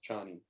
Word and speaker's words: Chani: It says it's pronounced as in China, so it's Chani.